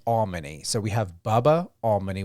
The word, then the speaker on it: Almony: he said to me, just think of all money. It's Almony.